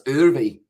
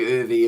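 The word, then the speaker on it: Erwee: waiting and also early i pronounced the w s v so it's urbi geez that was close to chopping it on there for algar so it's earthy ervy hopefully oovy is the correct uh pronunciation so yeah w's are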